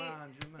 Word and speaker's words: Mangiamelli: Mangiamelli? Yeah, like right? manja, like you eat. Mangiamelli.